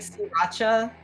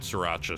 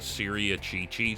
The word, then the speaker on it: Sriracha: And there was this old man who never knew how to say it. So he always he always would come in and ask for the Syria Chi-Chi sauce.